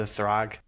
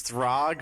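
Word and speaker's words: Thragg: I really going back a little bit further to in our conversation to Thrag Thrag, however you say his name. Throg.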